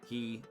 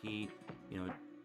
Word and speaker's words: Qi: I know a lot of people like to call her Q because we're not really even technically sure if it is pronounced Key.